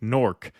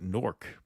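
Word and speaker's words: Newark: to uh Ravid L just FYI fellas locals pronounced new work like norc similar to H Houston Street hon Street in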